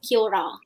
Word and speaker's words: kia ora: would be kira yeah it's spelled kia ora but we pronounce it as kyora okay what does it